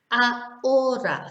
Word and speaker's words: ahora: Hotel, ahora, so you're skipping over the H.